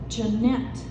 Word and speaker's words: Janet: down at the floor my name is pronounced Janette at the beginning of each